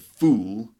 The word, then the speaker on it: fool: fool for example okay so full short sound and fool the long sound for example the room